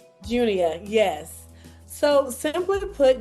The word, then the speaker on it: Junia: And did I pronounce it right for Junia? Junior.